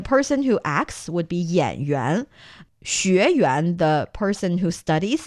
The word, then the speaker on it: 演员: Actually, it's 演员. 演员. Remember, we talked about yuan being the theater. person. No, that's yuan. Similar pronunciation, different tone, okay.